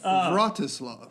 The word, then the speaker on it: Vratislav: Mine starts with a V. It's a soft Yeah, V. it's Vratislav.